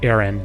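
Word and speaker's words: Aran: she called it um samus iran's i know it's supposedly pronounced aaron but i've always remember it being pronounced iran in uh prior to like the modern day we'll say but my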